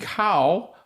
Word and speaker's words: Kao: We have Kao. Kao. I kind of sometimes, as Asian, I should remember how to pronounce it. That K-O is more of a Gao sound.